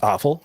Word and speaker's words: offal: Is in simplest terms, it's to study deer gut piles, otherwise known as offal, and it's pronounced awful, even though it's not spelled like that.